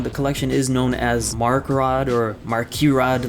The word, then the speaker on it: MARKERAD: I go on the collection is known as mark rod or mark you rod like the actual pronunciation is like mark you rod but obviously that's difficult to pronounce I don't